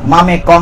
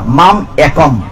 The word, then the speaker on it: মাম একম: ময়কার মা ময়কার মে ক অনুসার, মামে কং না, মাম একম।